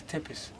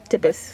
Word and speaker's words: Tepis: So my name is Tepis. Tepis. How do you spell it?